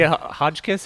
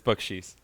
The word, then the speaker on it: Bakchis: Hodgkiss, how do you say it? Very close, but it's Bakchis.